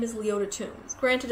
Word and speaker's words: Toombs: Her name is Leota Toombs. Granted, it's spelled Toombs, but still, you can't make it up.